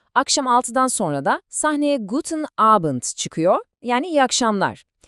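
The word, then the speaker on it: Guten Abend: Akşam 6'dan sonra da sahneye gooden abent çıkıyor. Yani iyi akşamlar. Telaffuzuna gelince yine good abent gibi düşünün. O abent kelimesindeki a sesini böyle birazcık uzatırsanız kulağa çok daha doğal gelir.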